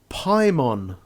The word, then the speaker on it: Pimon: Well, there is a new game called Pimon, which rhymes with Simon.